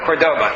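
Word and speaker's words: Córdoba: wrong either Cordoba or Cordoba which one is Cordoba thank you but that's where they are from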